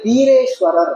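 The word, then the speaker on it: বীরেশ্বর: அதனால அவருக்கு ஃபர்ஸ்ட் வச்ச பேரு வீரேஸ்வரர் அந்த வீரேஸ்வர் வந்து நீங்க பெங்காலி மொழியில வா வை வந்து பா ன்னு உச்சரிப்பாங்க அதனால பீரே பீரேஸ்வர்னு பேர் வச்சாங்க அந்த பீரேவை சுருக்கி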